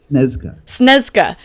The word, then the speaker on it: Śnieżka: Yeah, so I mean, you came down from, I believe it's Mount Śnieżka. Is that how you pronounce it in Poland? Śnieżka in Poland, and it's